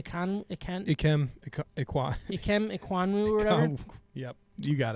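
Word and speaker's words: Ikem Ekwonu: Ikem Iquanwu or whatever.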